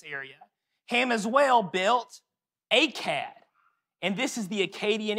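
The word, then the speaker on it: Akkad: if you're using it it's spelled differently a-c-c-a-d a-k-k-a-d phonically though it's the same sound another famous city he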